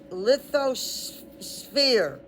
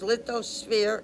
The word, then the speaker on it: lithosphere: into upper mantle includes lithosphere. Now we know sphere, we've heard it 100 times. PH is pronounced with F.